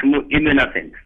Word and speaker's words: Hammo Imnessen: Nous allons accueillir maintenant Hammo Imnessen. C'est Hammo? Oui, monsieur Jamel. Vous pouvez corriger votre nom, je n'ai pas su le prononcer. Oui, c'est bien Hammo Imnessen. Imnessen.